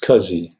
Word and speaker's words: SCSI: and ask us a small computer system interface is pronounced Kazi there's a technique of